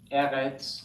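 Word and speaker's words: ארץ: Now, other examples, eretz, land, derech, way, nefesh, soul. Okay, they all have accent on the first syllable, two segles.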